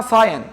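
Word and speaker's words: cyan: بعدها ال بقت ك ك سيركل سيركل اسمها ساين ساين ده اللون السماوي لون السما بص اطت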